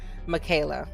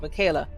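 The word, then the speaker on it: Miquela: paxon partners with the first ever virtual influencer michaela and i'm a little bit biased towards michaela because her name is spelled very similar to mine so um michaelas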